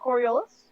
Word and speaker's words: Coriolis: spell that for me coriolis yeah i justi sometimes oh sorry I have it's going to be cor-ai Oh like that yes court yes that is Coriolis okay excellent um and